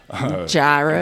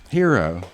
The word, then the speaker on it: gyro: so I cannot hear somebody say uh gyro. Gyro. And then and then they look at me like I'm this big proof, you know. It's just not how you say it. It's not how you say it. How do you say it? Hero. It's a hero.